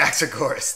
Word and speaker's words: Anaxagoras: to help me with the pronunciation here, I've butchered it all day. You want to help Anaxagoras. Me? Anaxagoras.